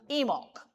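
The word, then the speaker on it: Imbolc: It's spelled like that, I mc and it's pronounced emulk.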